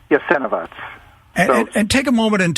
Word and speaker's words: Jasenovac: What is the proper pronunciation? Jasenovac. Jasenovac.